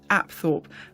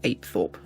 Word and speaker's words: Apethorpe: I've certainly never heard any locals call it Apthorpe, and the tour guides didn't use that pronunciation either, so I shall continue using the local pronunciation of Apethorpe.